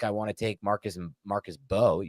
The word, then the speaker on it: Mbow: want to take Marcus Mbow. You don't pronounce the M, I've learned. Marcus Mbow, because it's the more rational thing to do.